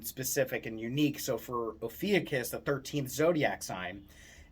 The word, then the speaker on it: Ophiuchus: Depends on how you want to pronounce it. I pronounce it Ophiuchus, but the symbol or the constellation is of a person wrangling a snake.